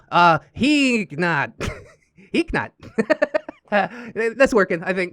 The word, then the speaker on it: Heeknot: Heeknot is a typo of Geekbot that happened a long time ago, so the K isn't silent, but it isn't overpronounced. Oh, Heeknot.